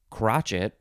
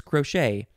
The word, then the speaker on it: crochet: first form of crochet it looks like it's pronounced crotchet but it's not it's crochet noun from 1844 needlework consisting of the interlocking